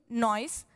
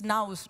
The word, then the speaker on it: Nuys: So first, please help me welcome Jeroen Noyce to the stage so he can share his perspective from ING. Jeroen, welcome. I think I butchered your last name. It's Nouse, right? Yes.